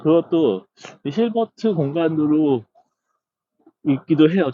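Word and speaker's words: Hilbert: 근데 영어는 확실히 힐버트입니다. ER을 L라고 안 읽죠. 보통 어라고 읽죠. 그래서 이제 저 그것도 힐버트 공간으로 읽기도 해요.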